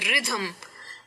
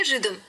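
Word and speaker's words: rhythm: जोर से बोलते हैं रिधाम ऐसे बोलते हैं पर वो नहीं करना है वो साइलेंट ही है इसीलिए हमें शांति से कहना है रिदम वैसे ही गोष्ट की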